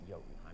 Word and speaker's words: Jotunheim: It's Jotunheim. That's how you're supposed to pronounce it.